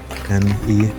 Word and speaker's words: Kylenne: It's Kylenne, like Kylynne.